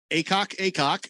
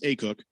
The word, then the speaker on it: Akok: Acock from UConn. Oh, I'm sorry. It's pronounced Acook. Acook. Sorry. Well, it's AKOK.